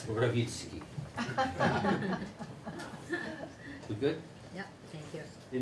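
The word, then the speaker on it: Mrowicki: And if you can pronounce it in Polish, I'll... send me some chart. It's Rawicki.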